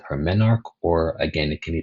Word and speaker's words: menarche: But just know the very first period a young girl has is called her menarche, or again, it can be pronounced menarche.